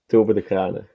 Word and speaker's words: Tobe Decraene: Can you pronounce it how you would pronounce it, Tobe? In Dutch? Tobe Decraene. Whoa, sounded the same to me. What about what's an acceptable way for us dumb Americans to say it? I don't mind Toby.